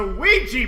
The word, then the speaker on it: Ouija: gonna learn the alphabet incorrect this is a Ouija board oh sweet yes indeed okay so that's how you pronounce it all right I wanted to play